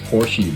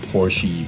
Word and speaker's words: Porsche: And by the way, since I'm from Germany, it's actually not pronounced Porsche. Never pronounce a Porsche Porsche. You can call it Porsche if you want to, but honestly it's a Porsche. And I repeat, it's Porsche.